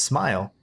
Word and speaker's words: Ismael: You can pronounce my name as smile." Ismile. Something like that. Oh, yeah. Is Yeah. Ishmael.